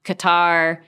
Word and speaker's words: Qatar: We're talking about Sudan, Qatar, which I mispronounce all the time. Qatar.